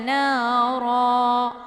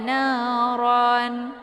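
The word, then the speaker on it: نارا: Jadi cara baca mad iwadnya itu dipanjangkan 2 harakat, kemudian dihilangkan 1 harakatnya atau 1 baris. Jadi ra. Alladzis tauqada nara. Jadi jangan dibaca tauqada naran, gitu, ya.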